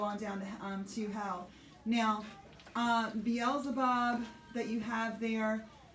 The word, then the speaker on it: Beelzebub: Beelzebub. Beelzebub.